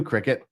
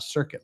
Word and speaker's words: Cricket: Well, you too, Cricket. And see, when I'm sober, I can pronounce it cricket, not circuit, like I always do.